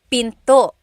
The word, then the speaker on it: pinto: Door in Tagalog is pinto Pinto. And remember, don't forget the glottle stop. Don't forget to stop the sound at the end.